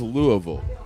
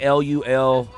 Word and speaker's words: Louisville: No, I say Louisville. Louisville. Louisville for me. That's how what I know say. he's from I Kentucky. say Yeah, you Louisville. got to say Louisville. Louisville. Louisville. It's spelled like Lulvul.